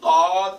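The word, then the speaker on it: ض: What's the difference between the dad and the da? Dad. You open your whole mouth.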